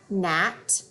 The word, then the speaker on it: gnat: So when there's an N after the G, that G is silent. All we hear is the N sound. Let's read them. Gnat, gnaw, gnome.